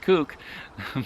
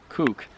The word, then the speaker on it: Kuk: This is spelled K-U-K, and I'm told in New Zealand there's a wrong way of pronouncing this, but I think it's pronounced kook because it's a kukri.